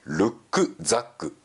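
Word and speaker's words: Rucksack: でしょうかリュックサックは元々はドイツ語で正しい発音をルックザックと言いますルックは背中ザック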